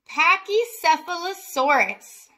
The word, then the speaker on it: Pachycephalosaurus: name that's a lot of letters that one's pronounced Pachycephalosaurus and then right here we have Cadmus oars